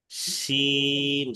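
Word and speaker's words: ش: শিন শাসা আওয়াজে উচ্চারণ করতে হবে, উচ্চারণ হবে।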